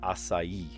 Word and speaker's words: açaí: But no, it is açaí, and there's an accent on the I as well, put the emphasis on that.